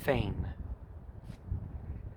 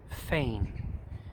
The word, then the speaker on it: feign: Feign. Feign. If you're looking at your handout, the G is silent. It's like the word fan during the summertime. Fan, only long A. Feign.